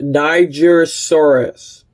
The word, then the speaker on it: Nigersaurus: not this is pronounced Niger Soros now don't get me canceled it's named after the country in which it was found if it's got a